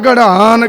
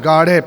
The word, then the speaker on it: गाढ़े: कहने हाथी न गाड़े गडन के तोड़न हार ते गाड़े गड़ा नहीं बोलना इ उच्चारण गाढ़े पैर अधा हाहा लगेगा गाढ़े गाढ़े का मतलब मजबूत